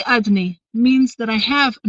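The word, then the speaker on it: אדני: And the answer is, well, in this world, we read his name, Yud Kei Vav Kei, in one way, but we pronounce it in a different way, right? Adni, we say the word Adni, the name Adni.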